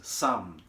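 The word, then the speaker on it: samn: to make it right you have to use some which is spelled s-a-m-n or ghee it is clarified butter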